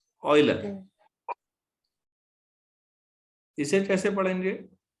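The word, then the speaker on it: Euler: अच्छा, इस आदमी को तो जानते ही होंगे, ये फ्रेंच नहीं है, स्विट्जरलैंड का है। इसे क्या पढ़ेंगे? इसे पढ़ेंगे ऑयलर। ऑयलर। हाँ हाँ, ऑयल होता है तेल जैसे बोलते हैं, ऑयलर।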